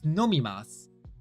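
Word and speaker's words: 飲みます: he told me that it's not Tas it's nomimas so it became NASA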